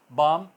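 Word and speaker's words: balm: कम होगा इसमें शाम हम धोती है ल साइलेंट रहेगा बम जो हम लगाते हैं एन किसी अप्लाई करते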